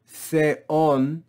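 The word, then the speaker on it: θεόν: Notice we have two vowels together, but they are not a Greek diphthong, so we divide this word into two syllables. Theon, theon, theon, with the acute accent.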